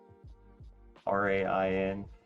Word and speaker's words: Rainier: It's spelled Rainier. Rainier.